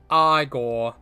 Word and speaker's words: Igor: from those movies yeah now it's pronounced aore yeah and and you